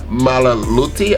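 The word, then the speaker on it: Milioti: Colin Farrell is bringing it, but so is Kristen Malaluti.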